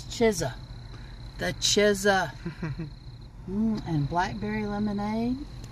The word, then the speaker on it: Chizza: over here getting busy the Chisel CH chisa it's not pizza it's chisa the chesa and blackberry lemonade chesa M they got anything else interesting spicy chicken sandwiches classic chicken sandwiches chisa I guess it's going